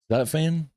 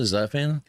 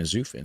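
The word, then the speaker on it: Zutphen: Zafan. That's how you pronounce it. Zafan.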